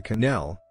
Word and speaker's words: quenelle: cannell gesture the canal french pronunciation is a gesture created